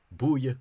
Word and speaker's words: búile: After all these labial consonants, this sound became an oo, so it became, this flat became a lip protruded oo, which would mean that this word is pronounced búile, which is actually the